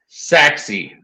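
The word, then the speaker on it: Sachse: Okay, 5 locations: Prosper, Allen, Frisco, Richardson, Saxy. I just learned how to pronounce Saxy today.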